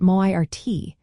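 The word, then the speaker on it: Máirt: Moving on to Tuesday, we have Mert, pronounced Moirt.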